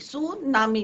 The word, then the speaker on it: tsunami: सुनामी दो word से हैं मिलके बनाया एंड इट इज a Japanese word. T is your silent. T क्या है बच्चों? यहाँ पे साइलेंट रहेगा.